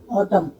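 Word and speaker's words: autumn: जैसे मैंने बोला ऑटम, तो ऑटम में एम एन लास्ट में आया तो ऑटम, जबकि इसका प्रोनाउंसिएशन है ऑटम, तो इसमें एन साइलेंट है।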